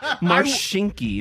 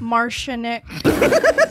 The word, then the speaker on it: Marshinky: Marshinky. Am I saying it right? Yes. That is you awesome. can have it. So when you were in grade school, what did your teacher say? Marshinik.